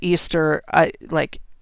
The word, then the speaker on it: Eostre: It's spelled Eostre. And there's a couple ways to pronounce this, but Easter is the most common way I've read that it's pronounced.